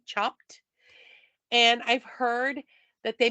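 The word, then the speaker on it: Chopt: place here called chopped it's spelled c h o p t chopped and I've heard that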